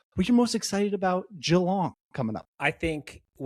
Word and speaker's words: Geelong: Today we're headed to Jalong, or if you're from America, it might be pronounced Gong for the second stop of the 2026 Iron Man Pro Series.